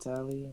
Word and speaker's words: Talie: So how do I say your name, Talie?